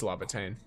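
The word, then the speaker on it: Laevatain: It's Lavatine. Lave It's It's spelled like Lavatine so l a e v and then um the tain is t a i n I think.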